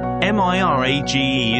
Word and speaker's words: mirage: it up he added mere age and marriage m i r a g e is pronounced Mirage said valency shortly picking up her